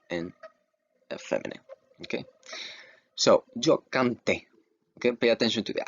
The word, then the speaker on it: canté: Remember, every time you see an accent, that little slash over the vowels, you pronounce that vowel harder than the other letters, okay? You emphasize it.